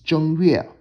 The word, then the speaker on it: 正月: The Mandarin pronunciation is 正月.